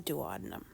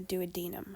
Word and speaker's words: duodenum: the small intestines that we call the duodenum, or the duodenum, however you'd like to pronounce it.